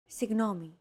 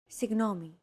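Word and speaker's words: συγγνώμη: in the following word signomi this word is often romanized like this signomi this character isn't pronounced using an English G sound at all who it's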